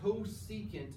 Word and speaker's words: cosecant: CSC, pronounced cosecant.